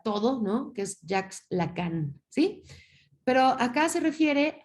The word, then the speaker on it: Lacan: Para Jacques Lacan, se escribe L-A-C-A-N, Lacan, como se escucha.